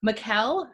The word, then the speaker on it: Mikkel: and I definitely see Mikkel who rhymes with Raquel we will definitely get